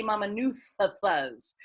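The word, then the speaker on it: Mamanucas: So in Fiji, the letter C is pronounced as a TH. So when you say Mamanuthas, you say Mamanuthas.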